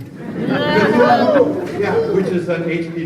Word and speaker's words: Cthulhu: There's a big move to call this dark region, now tell me if I'm pronouncing this right, Cthulhu? Cthulhu, yeah, which is an H.P.